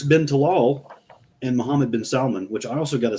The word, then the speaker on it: Salman: tal and Muhammad bin Salon which I also got to say that's the only time it's okay to pronounce the L in Salmon um yeah they don't